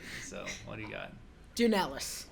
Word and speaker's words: Dounelis: said it right so what do you got dunelas dunalis dunalis i love that we are matching today